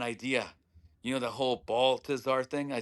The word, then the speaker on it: Baltazar: How can I get the ultra white, white bread people here that pronounce Baltazar? It's such a tough name. Yeah, yeah, So I would go Baltazar.